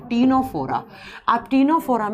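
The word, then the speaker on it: Ctenophora: पहले जब हम देखो सी से लिखा जाता है लेकिन इसको प्रोनाउंस करते हैं तो टी से कर जाता है तीनोरा आप तीनों फोरम में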